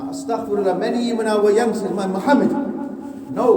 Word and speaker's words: Muhammad: and to call it Mo, astaghfirullah. At least in my opinion, that's absolutely unacceptable. Anybody's name is Muhammad, astaghfirullah, many even our youngsters, Muhammad. No, we should learn to pronounce it properly and be proud of the name of Muhammad.